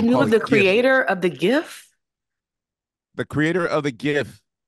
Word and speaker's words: GIF: just Googled it said he called it a gift with a soft G choosy developers he said